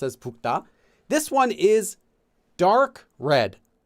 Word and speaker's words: 붉다: So 붉, it looks like 붉, pronounced as 붉다.